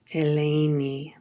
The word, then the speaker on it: Eleni: Helen's name in modern Greek is also more lyrical. Eleni. Not Helen.